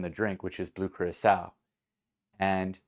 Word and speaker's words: Curaçao: Curaçao, Curacao, Curacao, yeah. And the second C has a CD on it, which is the French word for the little accent, little tail under the C.